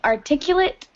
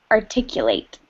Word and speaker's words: articulate: okay no problem yeah when you say someone is articulate you pronounce it that way because it's the adjective when it is the verb you pronounce it articulate articulate means i don't